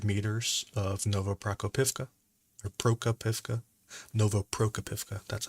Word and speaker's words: Novoprokopivka: Ukraine is within a few hundred meters of Novoprokopivka, or Prokopivka, Novoprokopivka.